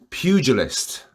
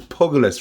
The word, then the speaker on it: pugilist: i'm no pugilist as i was uh corrected for pronouncing it shout out to past guests in front of the show ivor mcquillen who's a pugilist himself he told me that i don't think it's pogolous rather i'm pretty sure